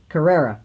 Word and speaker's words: Carrera: that how are you car how do you pronounce that the caria Carrera okay the Porsche Carrera GT it's got a